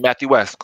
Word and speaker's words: Mathieuesque: Yeah, Mathieuesque, like statuesque, Mathieuesque. Yeah, this dude always got some crazy thing going on, man.